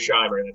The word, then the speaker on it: Shimer: and 100 Years of covert electoral interference David shimer joins well first of all David am I pronouncing your name correctly that's correct it is Sher that's a good GL how are you um